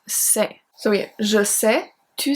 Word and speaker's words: sais: For the singular one, we are going to have the stem S-A-I, pronounced c'est.